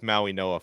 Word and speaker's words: Mauigoa: Mauigoa, I should say. I'm still trying to get used to that name. That's another one I've pronounced it three different ways, but I think we have it right with Mauigoa finally.